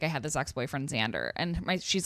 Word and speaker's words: Xander: Yeah, that's Xander. Like a Z cuz she spelled it phonetically also.